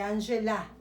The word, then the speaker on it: Angela: elle s'appelle Angie et Angela. Dans ce cas-là, je dois prononcer la A, les A. Les E, je ne le prononce pas, mais les A à la fin, oui.